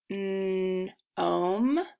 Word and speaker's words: gnome: GN makes the sound so the G is silent. So this word is, let's sound it out. Gnome.